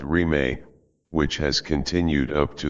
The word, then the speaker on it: Rime: Thus was born a movement known as Rime, without boundaries, pronounced Rime, which has continued up to the present day.